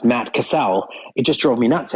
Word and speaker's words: Matt Cassel: I heard you know Matt Castle who is a quarterback pronounced Matt Cassell it just drove me